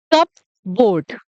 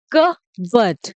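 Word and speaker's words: cupboard: नहीं दोस्तों, ये गलत प्रोनाउंसिएशन है, इसको इस तरीके से नहीं बोलना चाहिए। इसको ऐसे बोलते हैं क बट। जो पी है वो साइलेंट रहेगा हमारा। ठीक है, पी साइलेंट रहेगा, इसको बोलते हैं क बट। और आर भी साइलेंट रहेगा। ठीक है, तो इसको क्या बोलते हैं? कप बोर्ड नहीं बोलते हैं बिल्कुल भी, इसको बोलते हैं कहबत।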